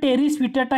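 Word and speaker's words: Pteris vittata: त्याच्यानंतर टेरिस विटाटा ही नेचे जातीतील वनस्पती आहे. टेरिस विटाटा, त्याला पी सायलेंट असतो बरं का, इंग्रजीमध्ये स्पेलिंग बघा PTRIS, त्याला पी सायलेंट असतो. जसं न्युमेनियामध्ये सुद्धा पी सायलेंट असतो स्पेलिंगमध्ये, तसं टेरिस विटाटा ही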